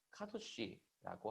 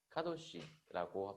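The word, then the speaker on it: קדוש: 자, 히브리어로 카도시라고 합니다. 이렇게 씁니다. 자, 그 다음에 카도시라고 발음을 하고요.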